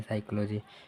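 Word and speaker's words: psychology: साइकोलॉजी में P silent होता है साइकोलॉजी।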